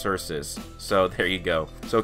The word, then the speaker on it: Xerxes: direct ancestor of King sources and it's not pronounced Xerxes it's pronounced sources so there you go so King sources was